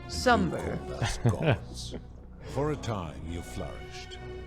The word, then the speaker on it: Sumer: to your people in a place called sumer we offered guidance in agriculture too that's how my people pronounce summer for a time you